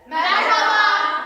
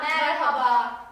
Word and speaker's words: Merhaba: Merhaba. Merhaba.